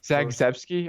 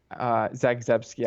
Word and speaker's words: Zagzebski: Zagzebski, I believe. Zabriskie is how she pronounces it.